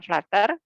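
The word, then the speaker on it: flutter: seperti gergaji namanya flatter flu ttr clutter tulisannya Tapi bacanya flater kalau dia bentuknya seperti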